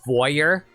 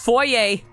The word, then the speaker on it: foyer: years of my life I pronounce this as foyer because I don't know for some reason foyer just sounds right but no it's just foyer don't you love the